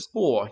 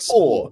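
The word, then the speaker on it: Spoor: Spore. Yeah, it's like Spore.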